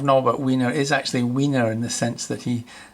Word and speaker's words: Wiener: but weiner is actually weiner in the sense that he that's how he pronounced his name it wasn't vena which is the german term that was um translation